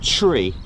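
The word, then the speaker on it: three: You'll also hear the number 3 pronounced as tree. All right, that again, and also number 9 as niner. Also 5 as fife.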